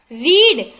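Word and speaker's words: read: था, RED, रीड, रीड, इनकी spelling same ही रहती है, बस प्रोनाउंसिएशन के अंदर थोड़ा डिफरेंट हो जाता है। इसको रीड बोलते हैं, इनको रेड, रेड, ठीक है।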